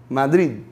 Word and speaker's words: Madrid: Porque esse D é falado, mas não é falado fortemente. Não é Madrid nem Madrid. Madrid. Vamos tentar? Madrid. Vocês entendem que vocês vão pronunciar o D, mas vão quase que cortar ele no meio?